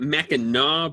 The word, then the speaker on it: Mackinac: Did I pronounce that right, Nick? Well, you did. In Michigan, we actually call it Mackinac, but I threw my name at the end of it, and so it becomes Mackinac.